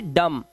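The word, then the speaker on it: dumb: इस तरह से बॉम्ब, बी साइलेंट है, इसका मतलब होता है बम। ऐसे ही डम, डम का मतलब गूंगा।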